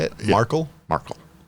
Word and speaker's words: Markle: Markle. So you emphasize the A? Markle.